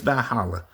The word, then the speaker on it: Valhalla: version of heaven which is called um Val Valhalla. Am I pronouncing that right? Yeah, it's it's it's B it's Valhalla.